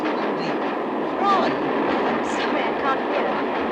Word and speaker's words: Froy: Froy. I'm sorry, I can't hear. It rhymes with joy.